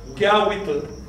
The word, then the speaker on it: kiawitl: La I es solo un sonido intercalar para no decir utl. ¿Ves? Para no tener que decir que utl. No, utl no se puede pronunciar en agua. Nunca, jamás, no existe en agua el sonido utl. Por lo tanto, se intercala una I que no es del radical ni tampoco del sufijo. Y se pronuncia kiawitl.